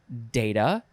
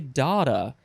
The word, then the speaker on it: data: opinions about this part it is data data or data looks like you can say dada you gotta be super